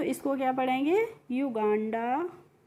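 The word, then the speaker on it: Uganda: युगांडा यू एन आई वी ई आर एस आई टी वाई।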